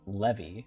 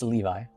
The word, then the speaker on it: Levi: I have had people ask me if it's pronounced Levy, like Levy attacks, but no, it's it's Levi.